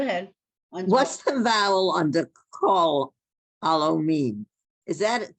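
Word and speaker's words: כָּל: Kal is not wrong, but call is more correct.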